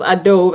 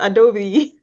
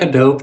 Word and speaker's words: Adobe: Recently I was on the call with Ben and he was like, Adobe is pronounced, because I pronounce it as Adobe, and he was like, it's Adobe. I kind of like Adobe too.